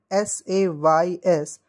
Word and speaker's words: says: So we used to call it like S-A-Y-S. So we used to say says, but it is not says, it's actually says. We pronounce this word like says, says, not says, it is says.